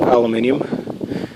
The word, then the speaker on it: aluminium: these are a myth aluminium aluminium I try to pronounce at the British Way I guess but everything